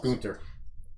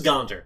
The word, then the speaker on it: Gaunter: Gunther. Yeah, Gaunter. Gunther. Ooh, you touched my tra-la-la. So, It is Gaunter. Gaunter. Gaunter. That's how you say it.